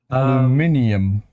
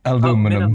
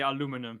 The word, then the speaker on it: aluminium: in the MRNA vaccine it's spelled aluminium icus you're Dutch behave aluminium not aluminum Min disease okay so that's PC says Min dise the the Americans say aluminum yeah yeah Alum yeah or